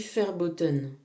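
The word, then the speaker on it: verboten: Par exemple en allemand, c'est une langue très importante, on dit ferboten pour dire interdit et ça s'écrit V e R b o t E n.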